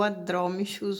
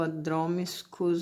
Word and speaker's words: Adromischus: Mas antes, né, essa plantinha que eu tenho aqui é o Adromichus ou Adromiscus, eu vou deixar o nome escrito direitinho porque a pronúncia é um pouquinho complicada.